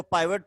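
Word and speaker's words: pivot: ठीक है, ये जो पाइवट पॉइंट या पिवट पॉइंट जो है, ये पॉइंट during the rotational motion at rest रहता है। पिवट पॉइंट, या कुछ लोग इसको पाइवट प्रोनाउंस करते हैं।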